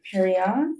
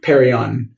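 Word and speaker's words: Pérignon: of of Don Perry perin how do you pronounce it perion perryon I believe not sure don't qu perryon everyone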